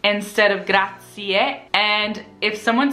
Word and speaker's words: grazie: very important because a lot of people say good a seat instead of gratia and if someone says grazie to me it's very easy for me to